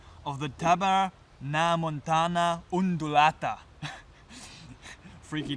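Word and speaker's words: Tabernaemontana undulata: and the bug of the now let me pronounce this name correctly of the tabar na Montana undulata freaky name and um what's common for this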